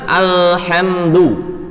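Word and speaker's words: الحمد: Kemudian lam sukun pada kalimat alhamdu. Kita qalqalahkan. Salah. Yang benar kan alhamdu. Tetapi kalau kita qalqalah ale. Walaupun nggak sampai ale banget, hanya terdengar sendiri qalqalahnya itu termasuk al-lahnu al-khafi. Alhamdu hada khata, atau ini salah. Yang betul bagaimana Ustadz? Yang betul alhamdu, nggak ada qalqalah di sana.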